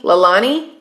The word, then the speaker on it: Lalani: in again lalane lalani lalani is how you say your name lalani okay okay so i